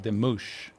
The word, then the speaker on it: Demouche: And so with having the S here at the end of his name, it's Patrick Demouche.